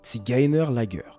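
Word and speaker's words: Zigeunerlager: 1943, il y a la création du camp des tigan qui se prononce tiginer laer.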